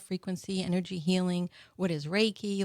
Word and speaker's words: Reiki: Well, what is Reiki or did I say it right?